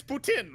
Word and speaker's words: poutine: example poutine it's it's poutine alright that's that's how it's pronounced in Montreal well you're also you're